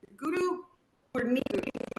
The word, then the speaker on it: Guru Purnima: And I don't want to mispronounce it, so let me just pull it up here. But it's Guru Purnima.